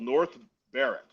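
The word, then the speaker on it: North Berwick: There's a there's a place in uh uh Scotland called North Bareric. It's like Burwick, like Burwick, PA, but it's pronounced Bareric over there.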